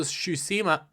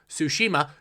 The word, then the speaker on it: Tsushima: do well ghost's ghost of tsushima goes to shushima I cannot say it right tsushima did really well and in fact showed all